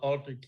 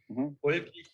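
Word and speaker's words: Oldřich: It's led by the Czech pipe maker Oldrich Ilsa. Oldrich Ilsa, actually, not old rich, as the Americans say.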